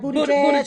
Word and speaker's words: Buttigieg: Booty Edge.